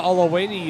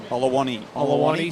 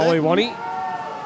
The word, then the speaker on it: Olawani: Probably Semra Olawini as well. Olawani, sorry. Speaking to her before, and that is how you pronounce it. Olawani.